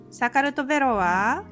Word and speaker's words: Sakartvelo: “Sakartvelo” is how you say “Georgia” in Georgian—kind of like how “Nihon” means Japan in Japanese.